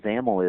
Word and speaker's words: XAML: By the way, XAML, X-A-M-L, is the acronym there, and that's pronounced with rhyming with camel.